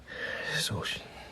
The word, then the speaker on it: Saoirse: Saoirse. Spell it.